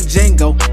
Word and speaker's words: Django: I'm poppin' out with all the sauce like I'm that nigga Django. I tell that hoe to D is silent, but it made a hit notes.